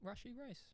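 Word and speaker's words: Rashee Rice: we have that one cheers all right uh Rashi Royce did I say it right Rashi rice I like it is it wrong did I say it wrong rushy rice is it really right yeah okay all right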